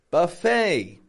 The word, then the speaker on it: buffet: Buffet has valet parking Buffet ET ending valet e t ending making an a sound I'm not saying V